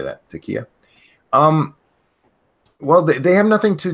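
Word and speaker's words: taqiyya: They lie more than Muslims with taka. How do you say that? Takia.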